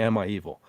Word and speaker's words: Am I Evil?: No, it's actually it's actually Emma Hevil. It's it's spelled it's spelled weird, but it sounds like he's saying Emma Evil.